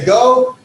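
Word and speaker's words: ἐγώ: Ego, it has a smooth breathing, like a regular comma, see right there. So I don't put an H sound in front of it. And I start with the go.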